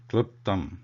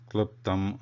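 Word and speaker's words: क्लृप्तम्: There is no Sanyuktaksharam or the conjunct letter combination of L and R. It is just L. So it should be pronounced kliptam, not kliptam or kliptam.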